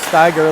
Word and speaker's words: Steiger: Hanson gets it over the line but finds a lot of traffic over there Steiger knocked it down s-t-a-i-g-e-r but pronounced like tiger Steiger like tiger that might have been Ryder Steiger Ryder 42-43 there's Ryder 42.